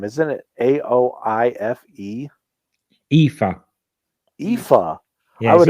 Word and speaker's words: Aoife: How would you pronounce her real name? Isn't it Aoife?